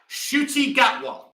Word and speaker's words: Ncuti Gatwa: Yeah, Ncuti Gatwa. Remember that? Ncuti Gatwa. As I said when I came on, I had to call up a friend to let me know how to pronounce the lad's name because I really thought